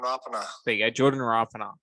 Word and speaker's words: Rapana: There you go, Jordan Rapana. So it's not Rapana, it's Rapana, which I said originally, so go me.